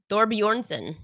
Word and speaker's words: Thorbjornsen: How do you pronounce that? Thorbjornsen.